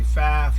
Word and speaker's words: Pfaff: looking at a bath you say buff I say faf you say faf I